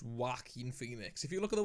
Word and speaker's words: Joaquin Phoenix: Well, the thing is, even though it's pronounced Joaquin Phoenix, if you look at the way it's spelt, it looks like in some weird way it could be Joker.